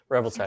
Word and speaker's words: Revoltech: Revoltech? Revoltech.